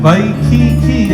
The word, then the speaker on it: Waikiki: In Hawaiian, Waikiki, and that's the pronunciation of it, means spurting waters, the ki of the fresh water, not the ocean.